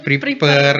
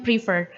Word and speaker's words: prefer: Oke, untuk kata ini kita bacanya karena dia tulisannya pakai huruf F kan ya. Jadi kita baca tetap soft, jadinya prefer gitu.